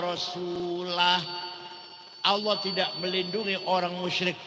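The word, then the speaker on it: وَرَسُولُهُ: Wong maca Quran salah. Wa annallaha bari'um minal musyrikin wa rasulih. Allah tidak melindungi orang musyrik dan tidak melindungi Rasulullah. Salah. Yang benar bacanya wa annallaha bari'um minal musyrikin wa rasulah.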